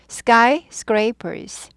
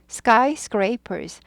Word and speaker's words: skyscrapers: 내 발음을 정교하게 고급스럽게 하고 싶다 하시면은 연습하세요. skyscrapers, skyscrapers.